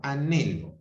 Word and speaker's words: anhelo: O anhelo. Primero es A, luego es NHE y la O, anhelo, ¿ok? Porque en este caso la H no aporta sonido, ¿ok?